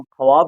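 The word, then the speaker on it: خواب: वाव को साइलेंट रखते हैं। हम ख्वाब की जगह वाब लिखते हैं लेकिन पढ़ते हैं ख्वाब।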